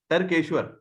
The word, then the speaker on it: Tarkeshwar: Question तारिकेश्वर सर से है। हाँ जय जी। सर मेरा क्वेश्चन है Tariq sorry, I can't pronounce the name. Okay, I'll just pronounce my name. Yeah. Tarkeshwar.